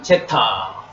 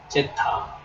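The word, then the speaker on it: ζ: 나옵니다 단모음의 발로입니다 그다음에는 제타 제타 제타는 한글의지 발음입니다 지음 그다음에 에타 에타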